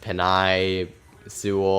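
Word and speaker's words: Penei Sewell: I I may have some people pronounce it like peanut like penai Sewell I've heard different pronunciations but penne sewell's the one I've heard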